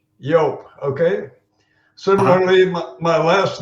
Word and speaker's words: Joop: It is pronounced like an American would do when he sees the spelling Y-O-A-P. Joop. Joop, okay?